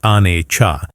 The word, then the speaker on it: Anicca: The Pali word for it is Anicca, pronounced Anicca, which translates to impermanence.